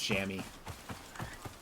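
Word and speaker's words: chamois: be awfully dark though I don't know why that's pronounced shammy that one of those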